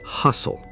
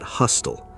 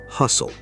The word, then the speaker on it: hustle: It's hustle. The T is almost silent, not hostile. Say it with us. Hustle.